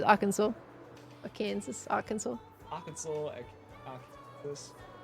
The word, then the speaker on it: Arkansas: It's Arkansas. Or Kansas, Arkansas. Arkansas, Arkansas. There's another state that, like, get pronounced differently depending.